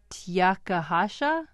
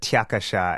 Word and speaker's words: Tiakasha: Big Pirate Tiakahasha? It's Big Pirate Tiakasha. And Tiakasha, okay.